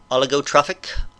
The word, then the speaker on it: oligotrophic: So those would be oligotrophic. I'm going to look up that word, make sure I'm pronouncing it correctly. Oligotrophic, I was pronouncing it right.